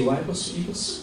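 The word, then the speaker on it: Ypres: y y p r s how do you pronounce that y p r s that's the fish name is eer you can say wiers um also when the king uh went to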